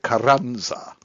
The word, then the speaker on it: Carranza: Stephen Mnuchin and Jovita Carranza. Ooh, I love that pronunciation. Carranza. Yeah, I rolled my R's.